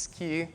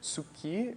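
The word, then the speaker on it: 突き: of times when you hear the attack it's ski some people say tsuki but actually you can most of the times Japanese pronounce it ski it's written tsuki but you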